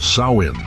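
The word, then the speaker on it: Samhain: Long before the name Halloween existed, people in the lands we now know as Ireland, Scotland, Wales observed a festival called Samhine, pronounced sain.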